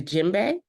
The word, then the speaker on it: djembe: pronouncing this right the jimbe jimbe jimbe D is silent jimbe jimbe to inspire